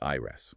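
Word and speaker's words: Ireas: And just as a quick phonetic note from the text, Ires is spelled I R E A S but it's pronounced Ires.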